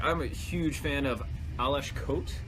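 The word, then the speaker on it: Aleš Kot: I'm a huge fan of Alesh Kote, as I was told is how to pronounce his name.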